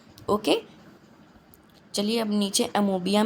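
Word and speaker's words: amoeba: इसको अमोबिया, ये इसका करेक्ट प्रोनाउंसिएशन नहीं है, इसको हमेशा अमीबा बोलते हैं, ओ साइलेंट रहता है, लेकिन कई लोग इसको अमोबिया बोलते हैं, तो वो गलत है। लेकिन इसका ओरिजिनल प्रोनाउंसिएशन क्या है? अमीबा, अमीबा।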